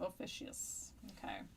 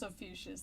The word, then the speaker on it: Ophiuchus: That's what I'm gonna call it, like Confucius, Ophiuchus.